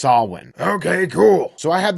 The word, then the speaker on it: Samhain: now wait a second that says Sam Hayne no that's what it looks like phonetically but it's actually a Gaelic word that is pronounced solyn Okay cool so I